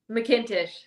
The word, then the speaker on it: McIntosh: How do you pronounce it again? McIntosh.